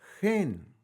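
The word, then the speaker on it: חן: la primera consonante que es la nun la la ponemos atrás y la que está atrás la ponemos adelante lo estoy diciendo De esta manera muy simple y sencilla para que entiendan Entonces se pronunciaría Gen y Gen quiere decir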